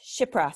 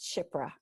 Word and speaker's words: Shipra: And it's pronounced Shipra, sorry, pronounced Shipra.